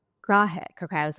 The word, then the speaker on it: Grahek: How do you pronounce your last name? Is it Grahek? Grahek. Grahek.